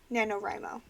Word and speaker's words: NaNoWriMo: is based on NaNoWRIMO, which is how you say the rest of my title. I know that looks complicated, but that's what it's called, NaNoWRIMO.